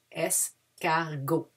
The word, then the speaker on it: escargot: We don't pronounce the T at the end. Escargot.